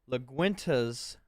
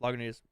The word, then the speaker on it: Lagunitas: and stopped in at the big liquor store and got LaGuinta's Daytime IPA. Have you had this one? I haven't had the daytime, but I think it's Lagunitas. Or Lagunitas? Yeah. It is Lagunitas.